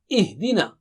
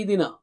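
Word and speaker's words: اهدنا: Ihdina. Don't say idina. Okay, again Hamza should be very clear and har sound also should be very clear.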